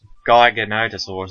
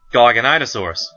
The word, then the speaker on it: Giganotosaurus: Giganotosaurus is all that's how I've always heard it pronounced.